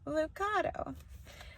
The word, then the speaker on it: Lucado: I am coming to you tonight from a book called God Will Carry You Through by Max Lucado. His name is pronounced Lucato.